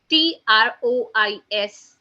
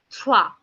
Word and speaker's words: trois: 3 in French is being written down as TROIS, which is being pronounced as trois, trois. Okay, trois, trois.